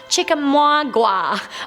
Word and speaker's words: Chickamauga: It's actually pronounced Chickamauga.